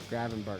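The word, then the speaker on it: Gravenberch: Liverpool is starting to look like Liverpool again as Salah scores late in the first and Graven, how do you say it? Graven Gravenber. Gravenber, that's right.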